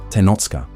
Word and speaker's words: Tenochcah: tribal designation that included the Tlatelolco, Tenochca, Nahuatl pronunciation, Tenochca, referring only to the Mexica of Tenochtitlan, excluding